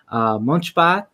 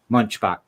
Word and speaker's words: Munchbach: Today is with me is Erica Munchbach with When September Ends.